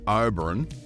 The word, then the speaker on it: Oberon: Just out of Oberon, or Oberon, as the locals say, are quite a few state pine forests.